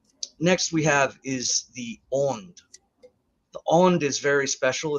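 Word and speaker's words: önd: it's the Divine breath it's o-n-d uh there's two dots above the O and so it has the kind of the Au sound like in the word caught so it's on um from the aunt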